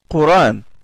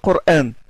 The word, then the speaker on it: Coran: s'appelle Ibn Kathir al-Makki, il lit Coran. Il ne lit pas Coran. Quand il le terme Coran, il ne prononce pas la Hamza. Il fait le tashil.